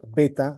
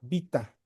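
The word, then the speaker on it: βήτα: O los que prefieren la pronunciación erasmiana, que es la que generalmente se estudia cuando estudiamos el griego, ¿no? Beta, así como está con la e en español, ¿no? O y así no se pronuncia. Eh, beta o yotasista sería vita.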